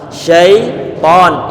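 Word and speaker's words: شيطان: Sebentar, ini kadang-kadang ini kita membaca syaitan tapi yang terdengar adalah syaiton. Ya-nya fokuskan bahwa ya dalam kondisi sukun bukan fathah. Syaiton bukan syaiton tapi syaiton. Coba syaiton, ya-nya disukunkan.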